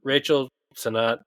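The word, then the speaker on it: Rachel Sennott: Anyway, uh the it's uh so Rachel Sonat I already forgot if I said it right. No, you said it right. Yeah, that's right.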